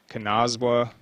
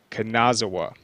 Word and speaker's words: Kanazawa: quarter uh Jay can how do you say this name kanazwa kanazawa sorry kanazawa jay kanazawa their quarterback